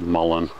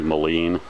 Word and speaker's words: Mullein: to correct myself already I said Mullen but it's supposed to be Molen supposed to rhyme with Kathleen but I learned to